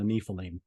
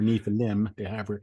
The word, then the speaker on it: Nephilim: What's the difference between the Rephaim and the Nephilim, or Nephilim? Well, depending upon how you say it.